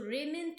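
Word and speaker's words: raiment: remnant do you remember there is a brand also in cloth raymond with raymond wood the spelling is different but the word is pronounced in the same manner so rayment means clothing okay now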